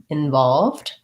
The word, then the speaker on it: involved: it as involved but usually when we have the letter i the reduced vowel sound that we use is the in vowel in other cases at